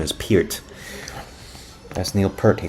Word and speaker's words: Neil Peart: Well, we used to say Peart until I found out that his correct pronunciation is Peart.